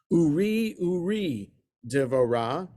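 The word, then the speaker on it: עורי דבורה: So I pronounced it the way, I put the emphasis without paying attention to the trup marks on the first syllable. The trup mark on purpose is on the second syllable, and that's what the little asterisk is referring to, that it's supposed to be the second syllable, not the first.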